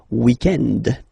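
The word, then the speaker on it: week-end: So if we're talking about the weekend, okay, but then pronounce it the French way, weekend.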